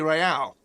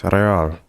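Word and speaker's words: réal: What's real? Oh, excuse me. You owe me 130 real. Pronounces the R with a mock aristocratic accent.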